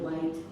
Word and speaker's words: light: GH, that GH is silent. It's very hard for kids. You do the word light.